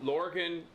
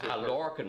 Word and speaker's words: Lorcan: We gotta introduce you, LORCAN. Am I saying it right? Yeah, that's right. That'll do me. How would you and how would I say it? No, LORCAN is fine. LORCAN.